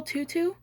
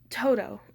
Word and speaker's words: Toto: And this is little Tutu? He snarled at her. Toto didn't like it when people got his name wrong. Toto, I corrected quickly.